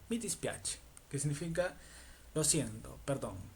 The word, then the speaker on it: mi dispiace: Entonces, la primera se dice mi dispiace. Mi dispiache, que significa lo siento, perdón, no.